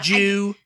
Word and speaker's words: due: No, in Britain it would be Jew, do, and Jew. Okay. There's like Jew, you know, it's like like D-U-E, you kind of pronounce like Jew.